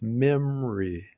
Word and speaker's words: memory: We don't pronounce that o in the second syllable. the unstressed syllable just memory and that's the schwa